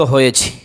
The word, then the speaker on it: ح: এরকম দেখেন, জিম আর হা কিন্তু একই রকম। জিমের নিচে এক নক্তা, হার উপরে নিচে নক্তা নাই।